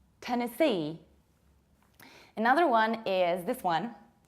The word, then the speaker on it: Tennessee: And this is not Tennessee, but Tennessee. As if you wanted to say tennis. Tennessee.